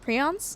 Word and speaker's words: prion: Pronounced prions? Is that how you say it? Prion? Prion? Prion. Okay, we gotta wrap everything now. Fun fact, the sun is going to explode. Yeah. Prion is how I've heard it.